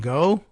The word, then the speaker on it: Ngo: but uh weirdo semi-journalist ND how does he pronounce his last name go NGO uh you may know him as Internet